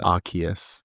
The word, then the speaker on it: Arceus: Arceus. Like, Arc is in like the highest point.